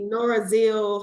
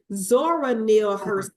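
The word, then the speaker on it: Zora Neale: so true it's just I said it wrong it's Zora Neil yeah she said if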